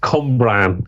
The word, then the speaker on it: Cwmbran: I think it's pronounced Cwmbran, but it's my Welsh pronunciation.